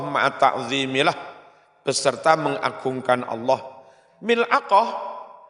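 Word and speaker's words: ملعقة: Mil'aqah, cara membacanya bikasril mim wa sukunil lam wa fathil ain wa yuqalu dikatakan pula milak apa?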